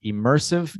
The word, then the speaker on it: immersive: immersive experience immersive so the stress yeah the stressed syllable is the second immersive experience immersive experience very